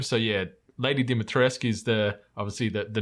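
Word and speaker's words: Dimitrescu: in Village like obviously lady dimitrisk is is the pronunciation that's been confirmed like um you hear that constantly in the in the game so yeah lady dimitrisk is the obviously the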